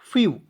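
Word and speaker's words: few: पे एफ ई डब्लू तो एफ का आधा फ लिख दीजिएगा और ई डब्लू का उच्चारण यू के रूप में कीजिएगा फ्य एफ ई डब्लू फ्यू फ मीस क्या होता है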